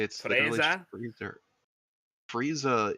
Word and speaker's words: Frieza: They didn't even like try to do any wordplay with it, like Frieza? Nope. It's literally just Freezer. Frieza is literally how they pronounce Freezer.